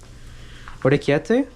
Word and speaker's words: orecchiette: Orecchiette?